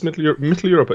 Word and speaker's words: Mitteleuropa: Oh, Mitteleuropa, yeah, that's Mitteleuropa.